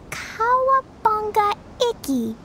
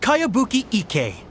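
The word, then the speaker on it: Kayabuki Ikkei: new one i've never heard of it by cowabunga icky yo mia this is a really strange name who's this cowabunga it's pronounced kayabuki ike that would be me outlander brigade is a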